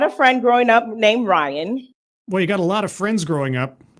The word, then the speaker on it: Ryan: Ryan, spelled R-Y-A-N, was very difficult for my mother to pronounce, and she kept pronouncing her Rain.